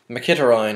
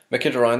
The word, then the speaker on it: Mkhitaryan: his name for what my kid ryan that's i looked it up on the internet and that's apparently how you say it he's an armenian international